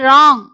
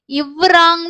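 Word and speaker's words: wrong: ஸோ அப்போ கூட நீங்க யோசிச்சிருக்கலாம் WRIT ரைட் ஏன் உச்சரிக்கிறோம் அப்படி அப்படின்னு சொல்லிட்டு. ஸோ WR இரு சவுண்டு. ரிஸ்ட் ரி இஸ்ட் ரிஸ்ட். அதே மாதிரி ராங். ஸோ ராங் அப்படின்னு தான் சொல்லுவோம். இவ்ராங்னு சொல்ல மாட்டோம்.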